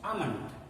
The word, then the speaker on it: almond: air is not pronounced almond palm only it's not palmoli family l is silent here l is almond don't